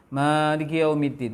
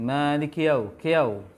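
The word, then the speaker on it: مالك يوم الدين: Maliki yaumiddin. Maliki kiau. Seakan-akan sukun kafnya. Kedua? Yang kedua, pengucapan ya fathah.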